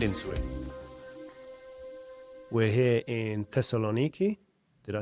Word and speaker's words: Thessaloniki: We're here in Thessaloniki.